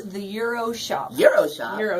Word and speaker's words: Gyros: it's phonetically incorrect it's the g is silent and so's the S at the end so so what are